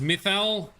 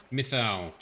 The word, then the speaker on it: Mythal: good i like it believe it's pronounced mythal thank you frosty that's what we needed methyl is ahead very good